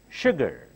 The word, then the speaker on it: sugar: our the song tea sugar here s sounds like Sh sugar now repeat the sentence